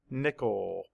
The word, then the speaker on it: nickel: And the reason the I is not a schwa is because it's in the stressed part of the syllable. It's a stressed syllable.